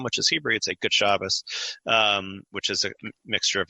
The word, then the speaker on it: Shabbos: in a Hasidic community nobody says Shabbat they say Shabbos which notice they shift both that shifts the T sound to an s and it shifts the syllable emphasis to the first syllable and it sounds more like German it sounds more like